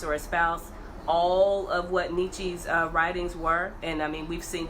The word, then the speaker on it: Nietzsche: Nietzsche, Quayshawn says Nietzsche. That's how you Nietzsche?